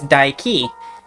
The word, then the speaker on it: Dike: It's Dike. If you say it the way that rhymes with bike, it's a derogatory term for lesbians. So don't say it like that. Dike is the goddess of